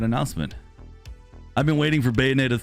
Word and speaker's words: Bayonetta: That's how you say it, Bayonetta 3 trailer.